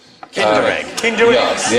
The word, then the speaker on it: Kinder: It is actually rhymes with Tinder egg. Kinder egg.